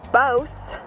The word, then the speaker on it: Bouse: As you can see, we're in Bouse, rhymes with house, checking out this old western town.